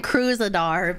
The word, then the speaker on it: Kruzadar: I kind of, you know, it's people normally do ER at the end. I say your name Kruzadar because I just think it's fucking hilarious.